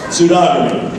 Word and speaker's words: pseudogamy: is meant by pseudo pseudo is it pseudogamy pseudogamy let me spell it P S E u d o g